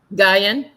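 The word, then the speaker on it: Guion: How would you pronounce Gian? Gian is how he pronounced it.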